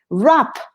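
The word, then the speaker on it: wrap: of vocabulary you know rap rap involved rap we here we don't pronounce the w okay the same as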